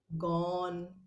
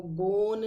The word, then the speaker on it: gone: GONE गॉन, तो इसको गोन नहीं, गॉन। ठीक है, तो इस तरीके से ओ की साउंड है विथ साइलेंट ई।